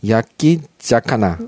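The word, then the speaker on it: 焼き魚: 야끼 자카나. 네, 이제 생선을 사카나라고 하는데요. 이거 이제 붙으면서 발음이 된 격화돼서 자카나가 된 건데요.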